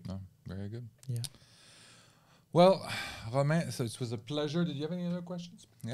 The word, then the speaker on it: Romain: So in French it's Romain, but in the US they call me Romain Lettuce.